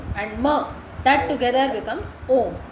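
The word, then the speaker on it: ॐ: Here the pronunciation changes. Yeah, it's not actually A, U. So it becomes, because this comes in, it becomes O. So A, U and Ma together is Om.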